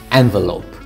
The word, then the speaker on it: envelope: Envelope. 잘 알고 있는 봉투죠. Envelope. 액센트가 첫 음절에 있죠.